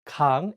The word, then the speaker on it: 강: Please note that in this case, the iung is at the end, so the word 강 ends with an ng sound.